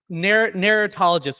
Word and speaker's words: narratologist: Narratologist. Is that right, Isaac? Narratologist. Tell me how to say it. Narratologist is perfect.